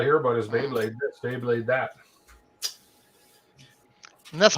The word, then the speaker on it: Beyblade: All I hear about is Beyblade this, Beyblade that.